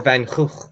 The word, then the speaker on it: Van Gogh: Van Gogh the Life, or Van Gogh, if you want to do the original pronunciation.